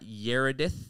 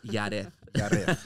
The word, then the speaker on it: Yareth: repeat that again for for the people that mispronounce it it's not yedith it's not yth it's yth all right let's go how are you yth